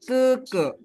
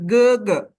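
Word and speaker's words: 哥哥: bukan dipanggil Gogo kan Nah Koko itu diambil dari kata ke ke yang artinya adalah kakak laki-laki gitu Jadi ini bacanya bukan ge ge tapi ke ke gitu bacanya bukan G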